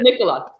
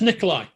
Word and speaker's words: Nikola: It's not pronounced Nikolai. No, it's not Nikolai or Nicola or. Really? I never Nikola. knew that. I always say it to rhyme with the cough drop, you know, Ricola.